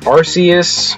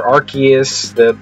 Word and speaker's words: Arceus: So in the Pokemon lore, this guy, his name is Arceus or Arceus, there's multiple different official pronunciations, so I'll call him Arceus.